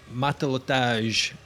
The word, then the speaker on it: Matelotage: So, while Matelotage are a new band. We have confirmed that's how that's pronounced.